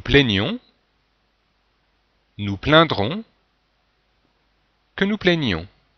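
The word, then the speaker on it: plaignions: Que nous plaignons. Donc, on doit entendre une petite différence entre le présent plaignons et le subjonctif plaignons, qui est en fait la même forme que l'imparfait de l'indicatif.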